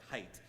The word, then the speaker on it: Haidt: His name, I think, is pronounced more like height, but I think it's kind of cute that his name is Haidt when I'm talking about hate.